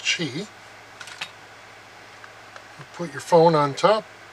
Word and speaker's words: Qi: spelled qi but I've been assured that it's pronounced cheap put your phone on top and it charges